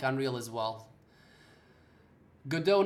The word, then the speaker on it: Godot: Fahir, Godot engine pronounced as Godot, not Godot.